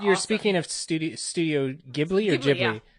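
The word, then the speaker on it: Ghibli: speaking of studio studio gibli or jibli is it gibli or jibli Studio jibli jibli that's how we say it like a giblet when we talked about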